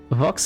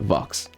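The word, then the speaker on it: Vaux: But Nemo Vox is swift as a history lesson.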